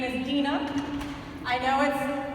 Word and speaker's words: Deana: is my name is Dena I know it's spelled a lot of people argue that it's spelled Deana but it's Dean with an uh at the end and some people like